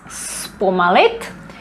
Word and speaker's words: zpomalit: Zpomalit, this is pronounced as S, zpomalit, to slow down.